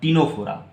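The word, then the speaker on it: Ctenophora: रहता है, जिसका नाम टिनोफोरा, CTENO फोरा, PHORA, टिनोफोरा। यहाँ पर भी क्या होगा बच्चों, ये सी का प्रोनाउंसिएशन साइलेंट रहेगा, तो आपको टी से प्रोनाउंस करना है।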